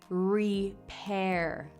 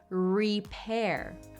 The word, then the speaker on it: repair: our next word is repair three pair do you hear how it sounds like the word prepare it means something totally different so make sure that you're enunciating the r repair repair is to fix